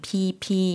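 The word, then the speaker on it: พีพี: 어렵지는 않았던 것 같습니다 얜 길게 평성 으로 beep 이렇게 발음 해주시면 되겠습니다 태국의 끌어 b 남쪽에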